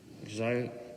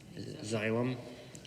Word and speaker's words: Xylem: was written out to exile xylem it's a hyacinth pronounce that xylem xylem water solutions apparently